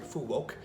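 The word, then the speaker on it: Phú Quốc: was in Vietnam on a little island called fuqu or as the locals pronounce it Fu woke and uh every day I was having a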